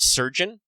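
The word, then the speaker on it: chirurgeon: I think the joke is that it's basically pronounced surgeon. Is it? I think so, because I stole surgeon from I think like 40K. I think it's actually in Old English, like pronounced the same.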